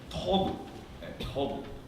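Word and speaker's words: טוב: 그런데 이 테트라는 단어가 히브리에서 가장 아름다운 단어 중에 하나인 토브, 저걸 토브라고 읽어요.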